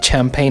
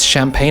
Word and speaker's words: champagne: okay i got it so this is a champagne and chef know what it's champagne and chef all right